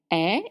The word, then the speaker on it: est: Est is spelled E-S-T, but you said est, and it means is.